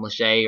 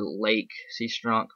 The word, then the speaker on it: Lache: Uh I heard I hear people can pronounce it differently all the time, Lache or Lake Sea.